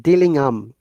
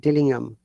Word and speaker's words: Dillingham: bearing the name mr james remember mr james dillingham the haiti is silent dillingham do you remember if there is age in